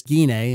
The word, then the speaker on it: Gine: you worried that the extra material such as guina and by the way that is how you pronounce a name uh will be exclusive to